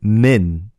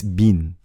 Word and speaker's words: Seungmin: Don't say min. It's bin. Can you guys hear this difference? This is going to be really difficult to hear the difference if you're a native English speaker. You know the word minute? If you imagine the word minute, it's not that min. It's bin. Yes, it's closer to M-E-A-N than M-I-N, if that makes sense.